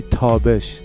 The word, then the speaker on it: Tabesh: I think the correct pronunciation of her last name, I think it would be Tabesh.